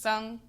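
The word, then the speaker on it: cong: So, it looks like it would be pronounced Kong, but it's pronounced sung.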